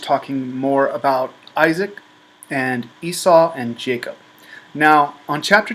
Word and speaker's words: Esau: Now, when Isaac tells this to Esau, Isaac's wife Rebekah overhears this and tells Jacob,